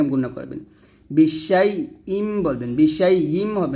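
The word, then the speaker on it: بِشَيْءٍ: করবেন বিশাই ইম বলবেন বিশাই ইম হবে না কিন্তু এখানে আমরা অনেকে হামজার উচ্চারণটা ক্লিয়ার করি না তাই হামজার উচ্চারণ ক্লিয়ার করতে হবে বিশাই ইম এরকম বিশাই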